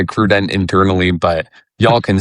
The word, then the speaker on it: AccruDent: Yeah, this is a I mean you and I both know we get Accruent or Accrudent. The people are always confused how to pronounce it. We we say Accruent internally, but y'all can say whatever the heck you want.